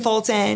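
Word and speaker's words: Fulton: know she's not lying she did not pronounce the T it was fton F so that proves you were from there so tell us more grew up in fton graduated from there moved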